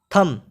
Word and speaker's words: thumb: पड़ रहा है उसमें तीसरे क्रम पर है थम यानि अंगूठा सेवेंथ नंबर ने पड़ते हैं सैम